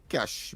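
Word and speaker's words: cache: You better talk to the other um news announcers as well because that is how it is pronounced here. Uh cash. But I have no difficulty in saying cashache.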